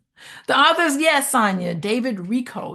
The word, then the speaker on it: Richo: The authors, yes, Sonia, David Rico. You pronounce it Rico, but it's spelled Richo.